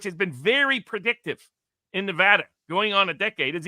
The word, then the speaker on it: Nevada: for anybody who's followed Nevada for the last uh 10 years now here in N Nevada they like to pronounce it like a sheep or a lamb Nevada that still annoys me